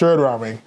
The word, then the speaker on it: Rahming: it up yeah it's the H is silent it is okay that's that's the problem anyway sh raming today we talk about